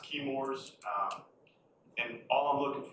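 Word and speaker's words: Chemours: contaminated with pfas from it's pronounced kores um and all I'm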